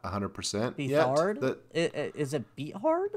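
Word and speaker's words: Beathard: uh it's not 100% be hard is it beat hard like yeah beard I call him beard it's bethard okay I was like how are you I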